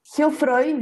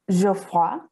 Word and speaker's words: Geoffroy: Yo soy Geoffroy, yo lo digo así, en realidad es un apellido francés, así que se pronuncia como Geoffroy, algo así.